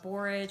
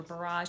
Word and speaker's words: borage: That's the name of the fat, GLA, and that can be evening primrose or borage or borage, depending on what part of the country you live in. They are pronounced differently.